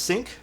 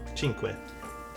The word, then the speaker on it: Cinque: Isn't it pronounced Sync? No, Chinque.